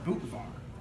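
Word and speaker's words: Butvar: It's called bootvar, but it's spelled like buttvar.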